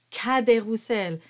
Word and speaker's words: Cadet: the letter as and all of them are pronounced with the open Sound ah kader and it's never pronounced with an ah sound none of these A's